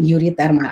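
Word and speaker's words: euritermal: Itu bacanya uri ya, urihalin, uritermal.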